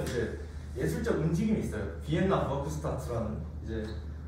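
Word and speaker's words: Werkstätte: 비엔나 버크스타트라는 이제 뭐 저런 뜻인데 이제 독일어권에서는 W가 V 발음이 나기 때문에 이제 저 로고가 있어요.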